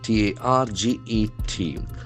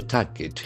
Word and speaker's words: target: T A R G E T. So target. It has got two syllables. Target. Target. The middle R is silent.